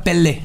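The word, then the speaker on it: Pelle: Dead se escribe P-E-L-K, una cosa así. Dead. Se pronuncia Pele.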